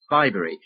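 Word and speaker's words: Bibury: of here you see you mean bbery well we pronounce it bbery anyway it's a very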